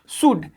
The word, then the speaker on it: should: हमारा नेक्स्ट है शुड, SHOULD, शुड। इसे आप शुल्ड नहीं पढ़ेंगे, ठीक है बाबू, शुल्ड नहीं, ये शुड है, SHOULD, शुड।